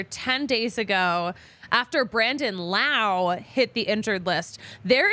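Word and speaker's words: Lowe: other people other fans how they remember Brandon Lao versus Josh low because they're spelled the same way but they're pronounced differently you they remember Brandon Lao because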